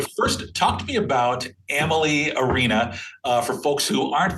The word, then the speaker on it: Amalie: We always say Amalie rhymes with family. So there you have it. It's just that easy, right? Amalie, like family.